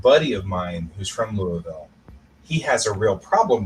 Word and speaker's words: Louisville: I know it is I know it is Louisville um when I was living in the South